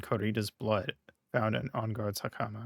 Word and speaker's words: hakama: Jammin' Ninja's button was ripped from his costume, is covered in Corrida's blood, found in Onguard's hakama. How do you pronounce hakama?